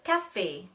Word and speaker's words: café: For example, le bébé, l'été, le café, le café. Focus on the pronunciation of the word E with the accent. Le café, A.